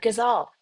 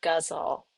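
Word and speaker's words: ghazal: for writing your gaz I almost I almost said it wrong. I almost said gazelle. Your guzzle.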